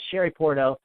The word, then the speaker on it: Shari Puorto: Everyone, you're listening to Shari Puorto. That's by the way, it's spelled SHARIPUORTO, and her latest album is My Obsession.